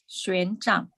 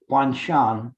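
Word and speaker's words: Xuanzang: say his name again. Xuan Zhang. Xuan Zhang. So if you would have said that, if I would have remembered, I would have said Huan Shan.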